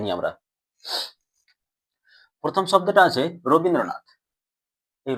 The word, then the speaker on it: রবীন্দ্রনাথ: প্রথমে যদি আমরা উচ্চারণ করি, কি উচ্চারণ করছি? র বিন দ্র নাথ।